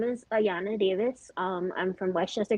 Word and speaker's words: Ayanna: okay but first um my name is actually pronounced ayanna okay yeah but if you